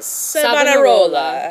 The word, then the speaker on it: Savonarola: And this was all instigated by the Dominican friar Girolamo Savonarola.